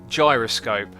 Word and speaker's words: gyroscope: Uh, we've got a donation here from Phil 71994 saying, uh, pronounce the gyroscope just like you did, but pronounce the G like a J in jam. So, guy jam gyroscope.